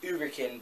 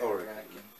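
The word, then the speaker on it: Huracán: It's supposed to be Uberkin, but you're supposed to pronounce the H like an O. But you can say it Huracan.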